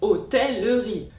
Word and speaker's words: hôtellerie: Et des mots comme galanterie et hôtellerie devront toujours se prononcer entièrement et compteront toujours comme quatre syllabes. Galanterie, hôtellerie.